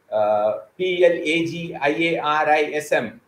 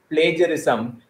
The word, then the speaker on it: plagiarism: would like to tell you I've heard people pronouncing the word pl Agia RI SM as some some have pronounced it this way plagiarism the some have pronounced it as plagiarism but the right way of pronouncing is plagiarism